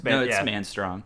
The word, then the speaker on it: Manstrong: totally wrong about that is it madong it's it's manong yeah manong that's what uh he's